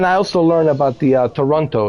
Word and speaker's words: Toronto: Yeah, so you take away the T and you change it to an N. Toronto. Yeah, Toronto. But you got to say it like really fast. Toronto.